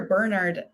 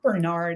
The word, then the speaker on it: Bernard: like with the character bernard um which i'll pronounce because he's british and like the british way because i think bernard is like that's a different name uh there's a character